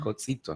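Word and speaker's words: codzito: es c o d z i t o cotito, ¿no?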